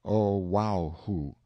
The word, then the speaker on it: Oahu: named him after this island Oahu pronounced oh wow who the first gate he